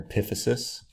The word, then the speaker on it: epiphysis: of the top part of your bone there epiphysis epiphysis epiphysis epiphysis is how you say it